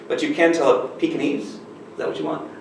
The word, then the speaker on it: Pekingese: Pekingese? How do you pronounce it here? Pekingese? All right, I'm hitting the G kind of hard. That might be an American thing.